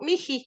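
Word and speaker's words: mihi: Entonces ahí dice Malku, miji, así se pronuncia.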